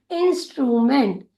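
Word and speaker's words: instrument: जब कभी भी एम ई एन टी ये चार अक्षर एक साथ आते हैं तो उसका उच्चारण किया जाता है मेंट के रूप में। और आई एन का उच्चारण होगा इन, एस टी का उच्चारण होगा स्ट, और आर यू का होगा रू। इंस्ट्रूमेंट, इंस्ट्रूमेंट।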